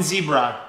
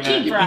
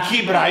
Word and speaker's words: Kibera: It's Kibera. Which is also yeah, beautiful. But it sounds like a zebra.